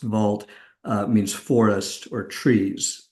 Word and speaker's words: Wald: Uh the word shine in German means beautiful and wald which would be pronounced vault uh means forest or trees.